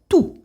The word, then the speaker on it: tous: So we say tout. So you don't pronounce the S at all, okay?